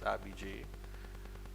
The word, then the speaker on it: Abhijay: Before he even says good morning, decides to correct me on how the pronunciation of Abhijay Mansingh's first name is. It's Abhijay.